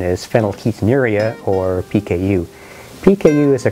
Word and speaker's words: phenylketonuria: know i can say it teddy the correct pronunciation is phenylketonuria or pku pku is a common inherited metabolic